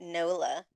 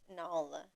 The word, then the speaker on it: Nala: think I've always called it Nola. It's Nala.